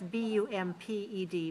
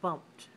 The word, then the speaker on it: bumped: you say the word it sounds like a t at the end bumped it rhymes with jumped okay let's say Joseph